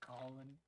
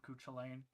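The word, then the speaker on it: Cú Chulainn: listeners, please note that he said Cahalan. He actually pronounced it right. Please stop calling him Cuchulainn. I'm sick and tired of it. If you say Cuchulainn in front of me, I'm going to be very upset.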